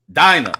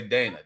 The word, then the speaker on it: Dinah: No, Dinah. I was gonna say Dana.